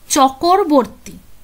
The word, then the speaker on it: চক্রবর্তী: করতেন তো এখানে দেখো উনি নিজের নামটাকে এইভাবে উচ্চারণ করতেন শিব ব্রাম শিব ব্রাম চকরবর্তী চকর্বরতী ঠিক আছে তো সেই জন্য